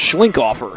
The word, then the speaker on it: Schlinkhofer: Beg your pardon, that's Schlinkhofer. Sarah Schlinkhofer is how that's pronounced.